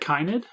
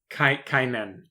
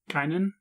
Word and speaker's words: Kynan: Uh, you said Kynid. Kynan. Kynan. Yeah, like Conan but not.